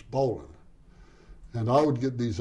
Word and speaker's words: Bolin: of Bolin b-o-l-i-n and the Americans pronounced Ballin as bowling and I would get